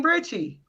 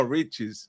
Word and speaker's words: Richez: Richie. No. Riches.